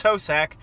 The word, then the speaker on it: Hosack: That's right, it's Hosack. Ho and sack. You say it just like it's spelled.